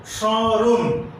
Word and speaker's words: স্মরণ: যেমন স্মৃতি একটি শব্দ, এই শব্দের শুরুতে মফলা আছে কিন্তু ময়ের উচ্চারণ হবে না, আনুনাসিক হবে। একইভাবে শ্মশান, স্মরণ এই সমস্ত শব্দের শুরুতে মফলা আছে, এই ময়ের উচ্চারণ হবে না।